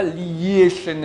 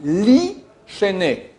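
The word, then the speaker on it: לישני: On ne dit pas Li-Shene Afar, on dit Li-Shene. On ne prononce pas le Yud, il est muet.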